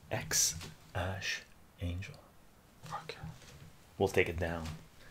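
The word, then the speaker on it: X Æ A-Xii: X Ash Angel is how it's pronounced. X Ash Angel.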